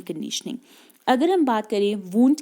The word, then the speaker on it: Wundt: अगर हम बात करें वुंट की, ये विलियम वुंट है जिसमें स्पेलिंग मिस्टेक है, ओ नहीं होगा यहाँ पे, WUNDT होगा।